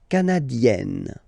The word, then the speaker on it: canadienne: Le Canada, canadien, yin, here, canadien, canadienne, yen. Remember, here you've got double N, so you've got to open the so it will become canadienne. Okay?